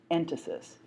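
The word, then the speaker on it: entasis: middle you'll see the word written but I'll spell it for you right now it's called Enis e n t a s i s and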